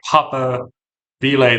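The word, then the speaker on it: papabile: the next pope by Papa Bele they call it, which if if you don't know the pronunciation kind of looks like paper, which is uh pronounce it that way, it's it's not the most pleasant.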